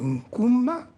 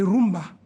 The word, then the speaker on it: Nkumba: Et avec la mauvaise prononciation du Nkumba, et les Espagnols appelaient rumba, en quelque sorte. Donc, rumba, c'est une déformation de Nkumba.